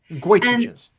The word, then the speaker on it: goitrogens: Goitrogens. Goitrogens. And that's because of its link to goiter.